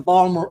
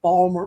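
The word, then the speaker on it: Baltimore: I will root for the Balmer Oreos and that is how you say if you are from Maryland from Maryland it's it's Balmer Oreos well you got a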